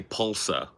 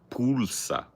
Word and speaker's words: pulsa: Okay, I know a little bit about, because like I would say pulsa if I was just pronouncing that in Americanized English, right? The U, you guys do a little ooh. You do a little rounded ooh with the U.